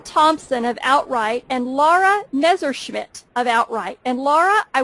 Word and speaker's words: Messerschmidt: It's Messerschmidt. Messerschmidt. I almost got it right.